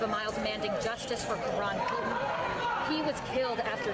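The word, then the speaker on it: Karon: Karan spelled K-A-R-O-N. So like Karen.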